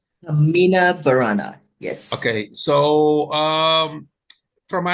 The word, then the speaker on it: Carmina Burana: So just excuse my pronunciation, and we'll see if I'm pronouncing it correctly. Carmina Burana, is that correct? Carmina Burana, yes.